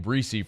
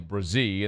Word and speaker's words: Bresee: It just rolls off the tongue because we've been saying Bresee for so long. Tip of the cap to our buddy Jacob Hester, who reminded us all that it's actually Bresee.